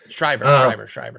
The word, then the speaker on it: Schreiber: would, but I put a couple bids just on and I always pronounce his name wrong. John Oh, Scribbery Schreibner. I Schreiber. forget. Thank you. Schreiber.